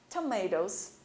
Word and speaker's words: tomatoes: Você não precisa pronunciar a letra E, apenas escrevê-la. Potatoes, tomatoes, ok?